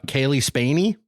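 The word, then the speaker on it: Cailee Spaeny: the same day November 3rd Priscilla starring uh Kaylee spany is that how you pronounce it yes and uh Jacob all Lordi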